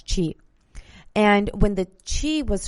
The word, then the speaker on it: qi: And it's spelled Qi, but you pronounce it as qi.